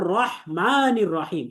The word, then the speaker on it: الرحمن الرحيم: তো দেখেন, আমরা এখানে রাহমানির রাহিম বলবো না, বরং এটা হবে রহমানির রহিম। তাহলে রহমান আমরা বলবো রহমান, র বলবো মোটা করে এবং হাটাকে উচ্চারণ করবো, অর্থাৎ গলার মাঝখান থেকে রহিম।